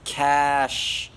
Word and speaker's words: cache: everyone's cookies private data cache it's pronounced cash that's not fair it's